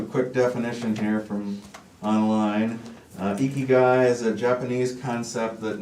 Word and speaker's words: Ikigai: It's actually pronounced Ikigai.